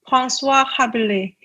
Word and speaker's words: François Rabelais: Okay, so what's the actual then appropriately pronounced name of the university that I just butchered, where you were an exchange student? So it's François Rabelais.